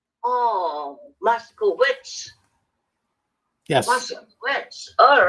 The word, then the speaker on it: Moscowitz: Moscowitz, like Moscow. Moscowitz. Yep. Moscowitz. Or Witz with a silent. Is B, right? Well, no, it's actually a silent W. It's Witz, Moscowitz. Oh, Moscowitz.